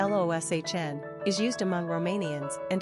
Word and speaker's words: Lucian: The spelling of Lucian, pronounced Loshn, is used among Romanians and English speakers.